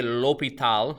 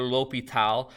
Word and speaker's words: l'Hôpital: the mathematics world by French nobleman marquise de l'hôpital that's how you say it or l'hopital and not actually buying him he actually bought